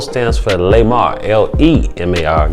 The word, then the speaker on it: Lemar: The L stands for Lemar, L-E-M-A-R, Gilty. No be fooled, it's not G-U. I was born guilty, but it's spelled with a G-I-L-T-Y.